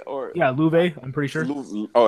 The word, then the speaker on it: Loewe: Yeah, Loewe, or how do you pronounce that? Loewe, Loewe.